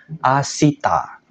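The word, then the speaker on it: 明日: kanji matahari atau hari cara bacanya spesial tolong diingat baik-baik yaitu Asita Oke jadi Asita besok yang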